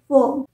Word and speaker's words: worm: pronounce करते हैं वर्म जबकि ओ है तो ओ होना चाहिए ना वर्म पर ये गलत है इसे हम प्रोनाउंस करते हैं वम डब्लू ए आर एम